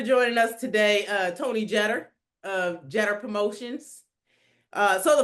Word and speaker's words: Jeter: Uh Tony Jeder of Jeder Promotions. Uh so the first thing that we want to get squared away here is that everybody calls you Jeter.